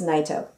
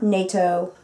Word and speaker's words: Naito: good singer um but that's how you pronounce my last name it's naito it's not nato i'm not the peace treaty organization it's not yet though it's not nyato it's not neato it's not nitro i've gotten like all